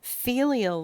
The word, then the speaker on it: filial: Filial law, that's pronounced filial, and that's F like Frank, Ilial.